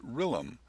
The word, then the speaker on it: RILM: Next, we look at RILM, often pronounced RILM, which stands for Répertoire International de Littérature Musicale.